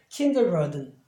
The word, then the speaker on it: kindergarten: 그럴 때는 그냥 그대로 이 발음을 하죠. 그러니까 kindergarten.